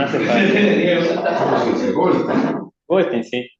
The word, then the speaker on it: Goldsztajn: Es la versión en alemán de mi apellido, y bueno, esa es la versión en polaco. Pero se pronuncia igual.